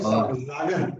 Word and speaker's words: sagen: Sagen. S is pronounced as Z when there is vowel after S.